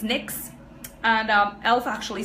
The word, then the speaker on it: NYX: lips face oh yes a mix is actually pronounce NYX not in wax I thought it was nos for a while and then I realized that it was next also as we are on the topic of